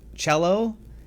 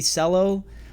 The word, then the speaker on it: Celo: Taking a look at this, it is called CGLD, also known as, I believe it's pronounced Celo. It might be Celo.